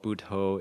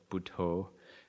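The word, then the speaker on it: Buddho: be Advanced at all budho is budha with an O on the end instead of an A so b u d d h o so two syllables b d and then d h buo it means the awakened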